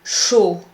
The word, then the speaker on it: chaud: Look at the word chaud, hot. You have the sound O, but you also have to keep in mind not to pronounce the D at the end. Chaud.